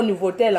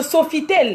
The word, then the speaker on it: Sofitel: Nous sommes au Nouveau-Tel. Hein. Hein? Qui a dit nouveau? Oh. Non, Nouveautel. C'est pas Nouveautel. Qu'est-ce que tu racontes? Pardon, il faut bien prononcer, maman. Non, ça s'appelle le Sofitel.